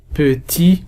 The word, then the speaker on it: petits: En jouant avec des petits, alors on ne prononce pas S, on ne prononce pas T.